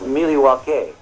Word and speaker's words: Milwaukee: Actually, it's pronounced Milwaukee.